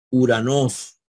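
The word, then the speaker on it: οὐρανός: vemos la palabra uranos acuérdense que aquí hay un dígrafo y ya les expliqué que el dígrafo o micron upsilon o micro se pronuncia como una u cada vez que ustedes vean esta combinación de vocales no no vean o si no vean uranos verdad Y eso significa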